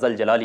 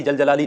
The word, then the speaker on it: जलजलाली: जलजलाली व इकराम या जल जलाली व इकराम जी हां दोस्तों जलजलाली जल जजलाली नहीं बोलना है लफ्जों की अदायगी प्रोनाउंसिएशन दुरुस्त होना चाहिए ध्यान से सुन लीजिएगा